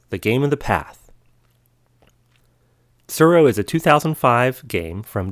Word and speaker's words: Tsuro: What is Surro? Well, it's spelled Tsuro, which is a little hard for my American tongue to pronounce.